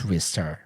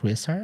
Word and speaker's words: Ristar: I think that there's the current uh like consensus is that it's wristar, but I I don't know if there's grounds for that or if it's like because people think they know Japanese and they feel it's like wristar. I don't know. But apparently it doesn't matter and it's can be both things, right?